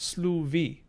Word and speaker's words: sluffy: or to listen rather although i guess it would be pronounced slu v because we have allophonic voicing of fricatives in between vowels just like old english um cool cool cool